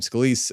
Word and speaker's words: Scalise: scal yeah that's how you say his name scalise um was no longer viable because Trump yelled